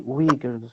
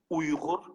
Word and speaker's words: Uyghur: understand, when we say Uyghurs, who exactly are we talking about? So we actually pronounce it as Uyghur, but in the West, it's very difficult to say. So they say Uyghur.